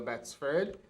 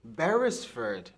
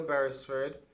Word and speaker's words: Barisford: local government Affairs and Mr Dale bford bestford barisford I've been pronouncing your name incorrect directly all program I'm so sorry uh Mr Dale barisford uh president of the